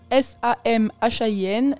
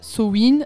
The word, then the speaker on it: Samhain: Donc ça s'écrit S-A-M-H-A-I-N et ça se prononce soit Samhain, soit Samhain. Suivant de quel côté de la Manche on se trouve.